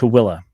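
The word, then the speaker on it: Tooele: This entire region is in a county known as Towilla County. Now, it's a really difficult word to read and pronounce. It's t o e l e pronounced t toilla.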